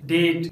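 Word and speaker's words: debt: जब letter B के बाद टी आता है तो बी साइलेंट होता है, जैसे डाउट डेट डेटा या डाउटफुल।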